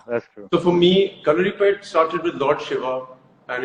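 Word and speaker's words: Kalaripayattu: so calorie pad, Hrithik, I'm so proud of the fact that you said the name correctly.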